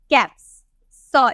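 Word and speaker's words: caps: हमारा सेंटेंस कैसा आएगा सी ए पी एस हम इसे क्या बोलेंगे कैप स इसे हम स में प्रोनाउंस करते हैं ना कैप तो अब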